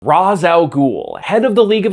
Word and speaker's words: Ra's al Ghul: of people typing away, "That's not how you say his name, it's pronounced Raysh!" Every single time that I mention Razz al Ghul in a video, I deal with an influx of these comments.